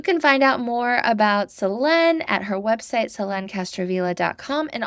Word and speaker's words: Selene: My name is pronounced Selene. Oh, no. I'm sorry. Okay. You can leave that. It's funny. I don't know. Well, now everybody will know for sure it's Selene.